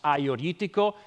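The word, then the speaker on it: Agiorgitiko: going to be based on the Red King Aioritico. So that first grape right here, pronounced Aioritico, is the king of red grapes in Greece in general.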